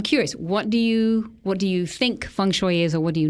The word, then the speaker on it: feng shui: So think of bok shui. Bok choy, feng shui.